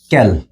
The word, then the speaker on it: quel: এল ও এস ক্যাল আচ্ছা এই প্রত্যেকটার উচ্চারণ কিন্তু এই ক্যাল ক্যাল এই ক্যাল প্রত্যেকটার উচ্চারণ কিন্তু একই কল কল অর্থাৎ প্রত্যেকটার উচ্চারণ হল কল তো এই উচ্চারণ এবং